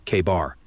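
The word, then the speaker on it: KA-BAR: And yeah, we're pronouncing that bad boy like it's written, K-bar.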